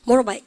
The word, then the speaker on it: motorbike: 여러분들 모토바이크 합니까? 모로바이크 합니까? 모로바이크. T 발음 여러분들 확실하게 연음해주고 있습니다.